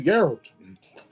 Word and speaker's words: Geralt: Give it to Geralt. 2 AC with no shield. No. No. Geral. We do not pronounce the hard E.